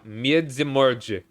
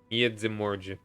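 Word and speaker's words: Międzymorze: It's I remember now. Miedzimorje. That's how it's pronounced. Miedzimorje.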